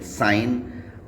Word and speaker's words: sign: तो जी तब साइलेंट होता है जब ये एन से पहले आता है, जैसे कि SIGN साइन, REIGN रीन, DESIGN डिज़ाइन, FOREIGN foreign.